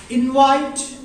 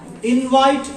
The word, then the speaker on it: invite: invite. Invite as a noun. Invite as a noun. When you use it as a verb, its pronunciation will automatically shift to the second syllable. It will become invite.